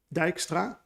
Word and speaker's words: Dijkstra: for all of you non-native dutch people you pronounce it dijkstra and he used to work at andover university